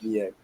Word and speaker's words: Niang: him and he was like the the S is silent at the end of the name so it's ends up being George Nyang and Okay, so can I can I say